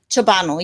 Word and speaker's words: Ciobanu: Ciobanu, yes. Oh, Ciobanu. Ciobanu. Yep. Oh, yeah, it needs an accent. Ciobanu. Yes, it's very European.